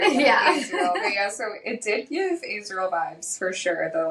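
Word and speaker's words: Azriel: off um I think technically his name is pronounced Israel but I always say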